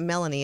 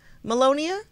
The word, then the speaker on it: Melania: So did you hear that him and Mel, pronounce it's not Melanie, is it? His wife? Hey, wait. What's his wife's name? Oh, Mel. Wait, she's so pretty. It's a different country. Melania?